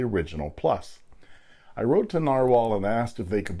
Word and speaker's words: Nahvalur: So back in August, I did a review of this Narwhal, now pronounced Narwhal, Schuylkill Dragonet Sapphire.